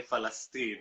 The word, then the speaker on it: Palestine: getting it all wrong he will say falestine not Palestine because they can't pronounce the P as well quite often